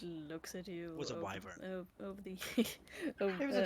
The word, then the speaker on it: wyvern: Technically, it's pronounced wyvern.